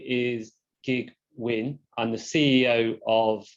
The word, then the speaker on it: Kiet: My name is Kiet Huynh. I'm the CEO of Rotork. So just to introduce myself, my name is Kiet Huynh. You'll see the name spelled as K-I-E-T, but it's pronounced Kiet, as in the last bullet point there.